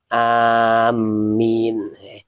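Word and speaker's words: آمين: Wa kullan ngucapa sapa sira amin. Amin. Amin ini mimnya ini tidak ditasyid ya. Amin. Amin ini artinya istajib du'ai ya. Wala tasillan ojo nyambung sapa sira hu ing amin biqaulika waladhdallin, kelawan ucapan sira waladhdallin.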